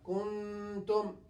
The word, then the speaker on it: كنتم: We will pronounce it halfway. It will be hidden like this. كنتم. كنتم. In this way, we are pronouncing نون ساكنة and تنوين halfway.